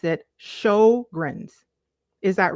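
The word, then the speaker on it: Sjögren's: Okay, CG says Venus pronounced it Sjogren's.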